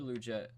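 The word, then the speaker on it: Liuget: People pronounce it very Canadian, but Corey Luget and Brandon Mebane, both a little bit on the older side.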